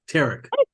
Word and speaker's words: Tarek: Yes, it's similar to Eric, but with a T, Tarek.